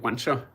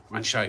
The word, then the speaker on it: Wanshai: Am I pronouncing that right, Wansha? Oh, Wanshai Warrior, okay.